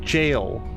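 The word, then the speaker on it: gaol: At some point in my life became aware that is pronounced jail, like where you put people away when they're bad.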